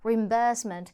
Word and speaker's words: reimbursement: 예쁘게 발음할 수도 있겠지만 영국 호주에서는 reimbursement이 B 부분에 강조를 해주죠 reimbursement 이렇게 reimbursement 자